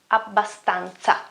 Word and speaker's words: abbastanza: will say above stance I say up bust answer I you have to stop there and keep it longer a bus stance so abbastanza mmm means quite quite